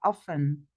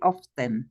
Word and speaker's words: often: song are of okay we don't pronounce the T we say often we don't say often but often my sister